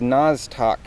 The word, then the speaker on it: Nostoc: I believe this is Nostoc is the way you pronounce it.